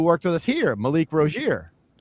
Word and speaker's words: Rozier: So, people called him Rosier, uh but then eventually we started saying it right and he admitted it's Rosier is how he wants it said.